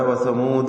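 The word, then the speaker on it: وثمودا: വഫ് ചെയ്യുക ചുരുക്കി പറയാം അവിടെ വസമൂദ എന്നതിനുശേഷമുള്ള അലിഫ് ഉച്ചാരണത്തിൽ ഇല്ല എന്ന സൂചനയാണ് അലിഫിന് മുകളിൽ ഒരു വൃത്താകൃതിയിലുള്ള ചിഹ്നം നൽകിയത് ശേഷം വദബയ എന്നത് പൂർണമായും ലയിപ്പിച്ചുകൊണ്ട്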